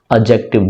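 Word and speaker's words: adjective: एडजेक्टिव। डी भी silent होता है एडजेक्टिव में।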